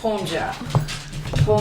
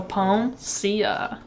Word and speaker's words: Peomsia: I feel like it's pronounced Peomsia. Where are you getting ja? I don't know. I just feel like I can't think of a word. You know that famous artist, Sia? Yeah. See, so Peomsia.